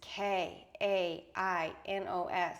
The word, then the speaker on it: Kainos: My vision was K A N O S. Apparently that is pronounced kanos like e like the sound of the name Elena.